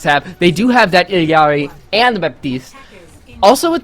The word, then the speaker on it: Illari: I like to see an Illari, I think that is the proper pronunciation. Illari. As they released a pronunciation like a couple days after she released. So yeah, because I think the first word was eel, and I was like, that doesn't seem right, but I'm gonna go with it.